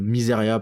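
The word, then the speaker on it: Mysaria: voit un petit plan miséri arenira ça regarde le au loin euh miseria pardon miseria parce que on me reprend pas mal sur les prononciations toutes mes toutes mes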